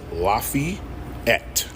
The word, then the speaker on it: Lafayette: I don't give a fuck if it's not an E after the fucking F. It's Lafayette.